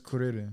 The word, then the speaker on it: Kuririn: Krillin is Kuririn. Kuririn. Kuririn. It is. It's No, Kuririn. for real. Like Because they can't pronounce L's in Japan.